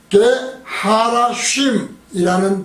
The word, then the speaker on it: 게하라심: 게하라심은 뜻이 히브리어 게하라쉼이라는 발음으로 되어 있거든요.